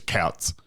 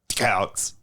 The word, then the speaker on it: Tkautz: That's how, well, how would you suggest one pronounces Tkautz? Couts. TK. Does the head tilt back? The head tilt, it's definitely part of it. Okay.